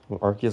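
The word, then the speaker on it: Arceus: Maybe I'm a bit of an Archus Glazer, but I love Archus. If you say it arus, you got something wrong with you. I don't care if that's the official pronunciation. I don't think it is, but if it is,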